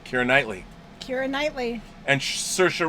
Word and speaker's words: Saoirse: Knightley Keira Knightley and Saoirse Ronan like inertia yep Saoirse like inertia that's right I like sir I